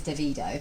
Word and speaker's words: Davido: artists yesterday a TV feature whose name is davido yes as you can pronounce it David Oh or dove you don't mind but I noticed